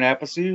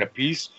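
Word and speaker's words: Appice: King Kobra, fronted by the world's greatest rock drummer, Carmine Apice, or Carmine Apice. Really depends on what day he wants to say his name. I've heard both ways.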